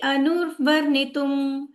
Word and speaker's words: अनुवर्णितुम्: शब्दार्थ में से उच्चारण कीजिएगा, तो थोड़ा इसको विभाजित करके उच्चारण करते हैं। सॉरी। तत्नः शुश्रुमाणानां तत्नः शुश्रूषमाणानां तत्नः शुश्रूषमाणानां तत्नः शुश्रूषमाणानाम् अर्हसि अंग अनुर्वर्णितम्। अर्हसि अनुवर्णितुम्।